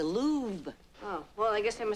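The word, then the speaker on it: Louvre: them in the hallway not the louver that's pronounced the lube oh well I guess I'm just about the wrong in my history book you're mr.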